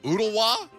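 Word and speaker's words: Ooltewah: ooh this this can only be one way oodawa bingo bango bongo he's on the board we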